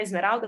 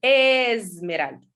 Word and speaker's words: Esmeralda: Então, quando ela falou, você vai chamar a Esmeralda, eu falei, tá bom.